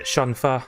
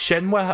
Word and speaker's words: Shenhua: So we reached Linguad Shan, met Shenfa, or it's Shenhua apparently, but in Shenmue 2 he said Shenfa. I guess that was just a mispronunciation.